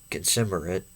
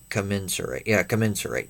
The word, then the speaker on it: commensurate: himself in a manner consumerate. Consumerate, however you say that, with this true understanding. Anyway. Consumerate. Okay, I guess that's how you say it. Commensurate. There you go, commensurate.